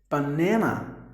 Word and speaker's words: banana: So you give the stress. This word is actually split into 3 syllables. Or in other words, 3 parts. So you have to give more volume for the second part.